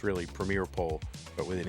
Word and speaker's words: PremierePole: Premiere with an E at the end, so spelled like Premier E pole, but it's really premier pole but with an E.